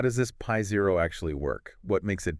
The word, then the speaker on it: π0: It's pronounced Pi Zero. Pi Zero.